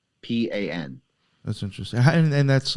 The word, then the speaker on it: Lo Pan: Lopan.